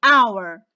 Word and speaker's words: hour: before it and why and the silence and i'm going to start pronouncing from the o sound so i say honor i say our i say honest so